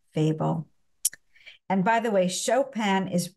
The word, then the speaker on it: Chopin: and by the way chopan is always pronounced in the French way in English it would be something like chopan uh even though it's